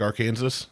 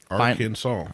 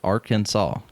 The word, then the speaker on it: Arkansas: pronounce it correctly like our Kansas Yeah. If you if you pronounce it Arkansas incorrectly per state code, the only acceptable pronunciation is three syllables. Arkansas. Arkansas.